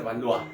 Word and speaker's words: Valois: Se escribe Valois, ¿no? Pero como es francés se dice Valois, ¿ya?